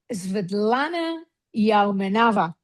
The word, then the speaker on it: Sviatlana Yaumenava: Well, welcome Vidlana Yaoava. Have I pronounced that well?